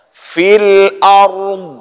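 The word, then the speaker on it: في الأرض: Ya, dhad itu tidak kita bariskan. Jangan sampai dia melahirkan baris dha ataupun dhi.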